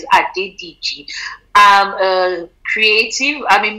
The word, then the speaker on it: Adediji: collected at the ddg i always try and make sure i pronounce it properly not saying adidas so it's a ddg i'm a creative i'm